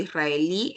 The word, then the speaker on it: israelí: mira qué pasa con israelí palestino yo tildo israelí Por qué Porque israelí es una palabra aguda mayor fuerza de voz en la última sílaba y además termina en vocal la debo tildar mira ahora acá hispano